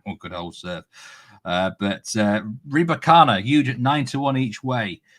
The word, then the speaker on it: Rybakina: So they, at the minute, if the money keeps coming from Rybakina, then is it how you pronounce it? Rybakina? Rybakina.